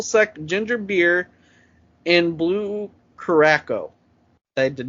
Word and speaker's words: Curaçao: Orange Juice, Triple Sec Ginger Beer, and Blue Curaçao. I did not pronounce that right.